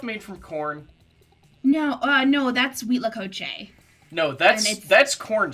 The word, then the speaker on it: huitlacoche: Wheat lacoche. That's how it was. That's how I've had it pronounced to me before.